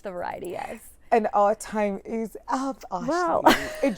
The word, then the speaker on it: thyme: So it's .time, spelled like the herb, underscore. So it's .THYME underscore, or just search Ashley Kibutha.